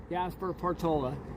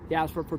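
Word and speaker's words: Gaspar: but in 1797 okay Don Gasper I'm not Don Jasper we'll use that pronunciation and they came here right with uh Father Sierra, right?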